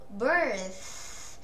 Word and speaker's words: birth: Birth, phát âm âm thở nhẹ ra một chút xíu cho cô này.